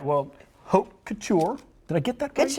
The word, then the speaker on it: haute couture: Haute couture.